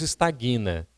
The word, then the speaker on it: estagna: Agora a gente diz estagna. Ué, como é que você escreve estagna? O G é mudo, gente. Então é estagna.